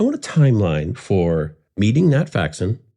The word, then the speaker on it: Nat Faxon: Uh Nat Faxon, am I am I pronouncing that name correctly? Nat Faxon is correct.